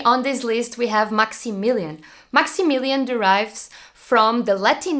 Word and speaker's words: Maximilian: German native speaker will say the name Maximilian Maximilian and now how would be max pronounced max and the second most used name